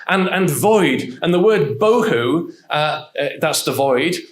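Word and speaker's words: בֹּהוּ: And the word bohu, that's the void. It rhymes with tohu and bohu.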